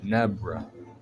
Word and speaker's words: Nebra: Overall power scores at 82.1 for Nebra rhymes with zebra.